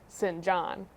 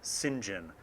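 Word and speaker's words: St. John: it could totally be sin John I believe that the high priest pronounced it Sinjin and when he wrote it upon the scroll of deeds it was spelled si n jom Sinjin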